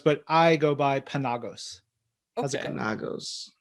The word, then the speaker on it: Penagos: My sister actually says Penagos, but I go by Penagos.